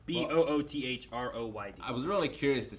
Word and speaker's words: Boothroyd: Was Major Broad. Boothroyd. Boothroyd. Okay. I don't know how you say it. It's Boothroyd.